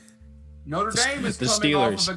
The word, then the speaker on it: Notre Dame: But Trey says it's pronounced Notre Dame. Obviously, you didn't know that, you absolute swine. So you should know that. Notre Dame.